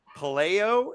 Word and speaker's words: Pelayo: while, and that's Forgotten Sisters by and Pelayo. Is right? Am I pronouncing it? Pelayo, you're close, but good. Yeah, Pelayo.